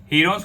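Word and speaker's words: Heron's: अगर आप इसका प्रूव देखना चाहते हैं तो आप हीरोन्स फॉर्मूला की, जो कि इसकी एक्चुअल प्रोनाउंसिएशन है हीरोन्स की, उस चैप्टर में देख सकते हैं।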